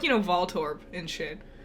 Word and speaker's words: Voltorb: Voltorb anytime soon and it should be Voltorb like volt yeah or I can't